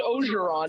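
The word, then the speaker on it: Orgeron: Did Ed Oregon just come on our show? It's pronounced Ogeron, but Ed Ogeron, he just come on our show?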